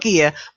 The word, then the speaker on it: gear: Not gear.